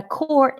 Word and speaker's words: quart: It's really the 4th sound of the A, quart. See how my face makes a O? Not the I, not the A, not the O, but the O, quart. The 4th sound, okay?